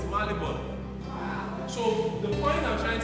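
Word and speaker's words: Marylebone: He said, no, it's Malibon.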